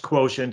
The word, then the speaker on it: QTNT: in the book it's spelled q tnt it's pronounced quotient and it's a that's a it's a trademark